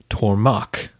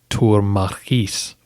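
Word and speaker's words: turmarches: So each theme was made up of several Turma, each with its own Tormak, commander, which should be pronounced Turmarchis.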